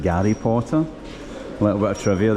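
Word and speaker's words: Гарри Поттер: So, it's quite funny that the G the H is pronounced like a guess. So, it's like Gary Potter.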